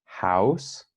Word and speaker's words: house: House, lembra que H em inglês tem aquele H forte no começo, né? Então, house, house, né? E no mesmo com H em home, home, né? A gente pronuncia essa letra aí, tá? Então, house, ao, house, né? E home são sons diferentes.